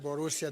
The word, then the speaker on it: Borussia: So Borussia is Borussia silver, Dortmund.